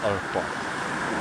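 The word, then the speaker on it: Árpád: ери на ім'я арпад так угорський варіант наголосу на другому складі арпад як кажуть історики ця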